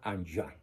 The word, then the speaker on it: Enghien: Esta ciudad se escribe Enghien, con H intermedia. Como es francés, se pronuncia Anjouan, Bélgica, donde recibe el presbiterado.